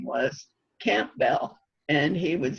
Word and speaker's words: Campbell: there a village called Campbell? There's one, I think, in Lycoming County. Oh, okay. And they pronounce it Campbell, just like almost without the B. Like a camel.